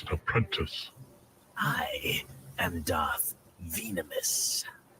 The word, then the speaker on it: Venamis: I am Darth Venamis. Venamis, ecco come si pronuncia in inglese, me lo sono sempre chiesto.